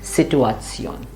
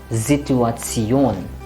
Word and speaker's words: Situation: la now many students will instinctively say situation because it is like an English but remember s followed by a vowel will become it has to vibrate here zituation and that's how you should pronounce it that was it about